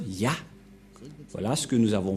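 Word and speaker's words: יה: Cette forme se prononce Yah.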